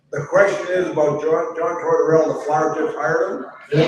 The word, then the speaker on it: Tortorella: What do you think of Joe Tortorella, that's how you say his name, coaching of the team that they have, the Flyers now, like with those guys that they have?